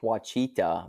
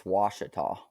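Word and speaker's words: Ouachita: Lake Wachita, but then I found out from Oh, people that live there, it's Washita.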